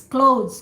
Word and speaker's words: clothes: yeah clothes clothes okay the way you pronounce the when you close the door close the book close your laptop that's the same close understood yeah thank you